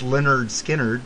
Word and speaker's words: Lynyrd Skynyrd: I was gonna do that one or it's pronounced Lynyrd Skynyrd but I think we'll do this one it's